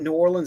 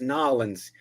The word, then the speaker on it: New Orleans: Remember, folks, it's not New Orleans, it's Nolans. Yes. Yeah, that's what the tourists say. That's the tourist pronunciation of it.